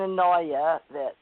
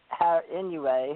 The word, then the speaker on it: Inouye: So John Glenn, any of you investigators out there, John Glenn, Senator McCain, Dan Inouye, or Dan Inouye, how you say it.